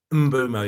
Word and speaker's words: Mbeumo: His name's pronounced a lot of different ways. It's Mbeumo, is it? Mbeumo, yeah.